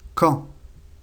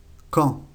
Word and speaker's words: quand: Cuándo, en español, en francés se dice quand. Quand. La última D no se pronuncia.